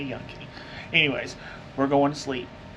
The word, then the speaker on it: Yunque: If you're a white person, you say Yunk. If you're not, you say Yunque. I think the locals say Yunque.